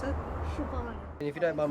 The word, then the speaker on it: Siobhan: How do you pronounce it? Siobhan.